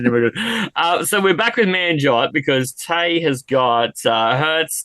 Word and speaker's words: Manjot: She couldn't pronounce Manjot. She told me Marjot for like the Manjot.